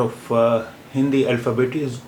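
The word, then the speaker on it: ओ: It is pronounced as O in English words north, horn, horse, point, etc. This is a printed form of O, and its handwritten form is here, written in blue here.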